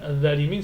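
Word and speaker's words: ظالمين: Comme par exemple le mot al-zalimin. On ne dit pas al-zalimin. Al-zalimin ça veut rien dire. Ni al-da, certains le prononcent carrément avec la lettre D. C'est faux. Donc, al-zalimin, Allah, il faut sortir la langue entre les dents pour l'obtenir.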